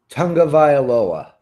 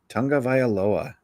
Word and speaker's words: Tagovailoa: Tagovailoa. I'm still going to probably just call him Tua because next week I'll probably forget. Yeah. There's no N in there, so I don't know where that comes from.